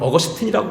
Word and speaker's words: 어거스틴: 일반 안 믿는 사람들은 로마식 발음을 아우구스티누스라고 부르고 미국 발음은 어거스틴이라고 부릅니다.